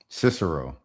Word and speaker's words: Cicero: How you pronunciation? Cicero. Okay. Oh, Cicero. I've heard of Cicero.